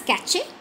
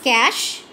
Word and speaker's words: cache: Please don't pronounce it as cache. So this is cache.